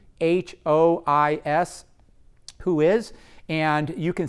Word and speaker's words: WHOIS: to the bottom of the page, click on Who Is. That's spelled WHOIS, Who Is, and you can see who owns that domain name.